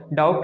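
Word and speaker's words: doubt: डाउट का spelling actual में BT होता है, लेकिन बी यहाँ पे क्या है, साइलेंट, बी की कोई मीनिंग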